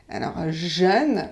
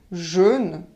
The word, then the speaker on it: jeune: contraire du mot vieux jeunes c'est un e ouvert mais si vous le prononcé de façon ferme et jaune jaune et pas jeune homme jeune qu'est ce